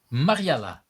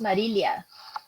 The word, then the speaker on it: Marilia: hello everyone and hello marela is that how I should no Mar marilia is that how I should pronounce your name yeah actually uh it's pronounced marilia marilia okay I'm on purposely